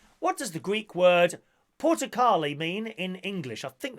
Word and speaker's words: Portokali: Number 18, what does the Greek word Portokali mean in English?